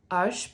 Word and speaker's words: Arches: You are going to be using Arches paper, or as the French pronounce it, Arches paper.